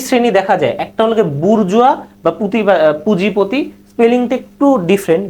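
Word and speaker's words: bourgeoisie: এভাবে যদি ভেঙ্গে ভেঙ্গে পড় তাহলে কিন্তু তেমন একটা টাস না B hour Jio আই এস আই বুরজুয়া এটার আবার হল আরেকটা উচ্চারণ আছে যে বুজুয়াজি আর আরেকটা হল গ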